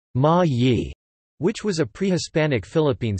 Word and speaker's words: Ma-i: Ma'ai in the island of Mindoro in Luzon, pronounced Ma-yi, which was a pre-Hispanic Philippine state.